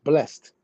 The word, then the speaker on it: blessed: It says when used as a form of a verb to bless, blessed has its one syllable. It is pronounced blessed.